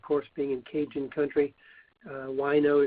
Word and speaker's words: Wineaux: Wino is spelled Wineaux.